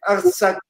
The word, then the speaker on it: Artsakh: Je suis désolé pour la prononciation arménienne, mais bon, c'est Artsakh, ça se prononce comme ça.